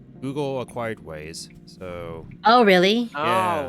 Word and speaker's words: Waze: choice between Google Maps and Waze, where like Waze was like Oh, is that how it's pronounced? How are you thought pronouncing was it? Wise, like Scott the Wise.